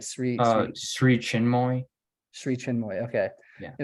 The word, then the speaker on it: Sri Chinmoy: Like Sri Chinmoy.